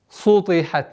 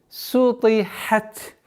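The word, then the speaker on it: سُطِحَتْ: Распространенная ошибка здесь — это твердое произношение сина, так как та влияет на син. Сутихат. Нет. Сутихат. Сутихат. Выделяя звук ха, и при остановке мы применяем те правила, которые мы уже сказали.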